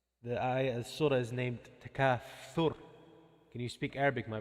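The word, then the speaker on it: التكاثر: After Al-Bayna, we said Takathur. It's not Takasur. It's TH. Thu, thu, thu. That's how you say it. It's like thunder. Fa, fa. You know the letter Tha? It's the surah is named Takathur.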